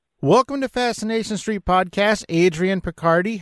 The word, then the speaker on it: Adrian Picardi: to fascination street podcast Adrian Picardie how you doing Adrian and am I saying your name right you are saying my name correctly yeah thank you so